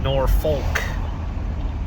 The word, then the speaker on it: Norfolk: It's pronounced Norfolk, and it got its name from the North Fork of the river, I think the Elkhorn River. Somewhere along the line, it got spelled Norfolk, like howdy folks, but it's still pronounced Norfolk.